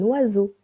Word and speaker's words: oiseau: Un oiseau. Un oiseau. Remember o and I sounds wa eu. Sounds o.